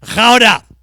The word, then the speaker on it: Gouda: and they call it Gouda. Do you know what Gouda is? We call it Gouda cheese. They call it Gouda cheese. In fact, the proper name, Gouda. Gouda cheese. That's how they pronounce it.